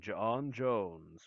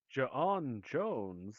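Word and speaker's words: J'onn J'onzz: has been my home for many years and john jones will do whatever it takes to protect it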